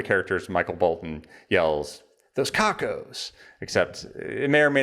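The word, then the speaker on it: Cockos: Why did you go with the name Cocos, or is it Cook? I don't know how to pronounce it. Cocos, yeah. Okay.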